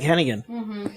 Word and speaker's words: Hennigan: a you should say it like Hennigan Oh everyone in Cardiff